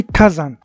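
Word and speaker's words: 火山: تبدل النطق ديالهم تماما، ما غاديش نقول ديك اللعيبه ديال هي ياما، لا كتبدل النطق كليا، كتولي كازان واللي كتعني بركان.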